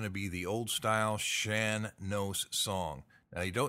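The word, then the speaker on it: Shan Nós: be the old style Shan knows song now you know it looks like Sean knows maybe but no it's shan knows and you know i've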